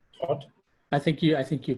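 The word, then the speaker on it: Thoth: It's called Thought. I think you pronounced it correctly.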